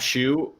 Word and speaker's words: Schuh: is just my name shu uh s-c-h-u-h pronounced like what you wear on your feet but spelled a hell of a lot differently uh those dutch and